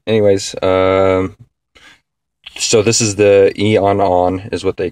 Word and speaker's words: Eonon: Anyways, so this is the Eonon is what they call it, how they pronounce it, the M1 unit, and it looks,